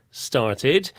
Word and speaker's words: started: Sometimes it sounds more like id. Id. Started.